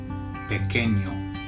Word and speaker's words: pequeño: The reason is because when you get a QU in Spanish, you don't say qu, you say k, k, okay? So it's just like a K sound.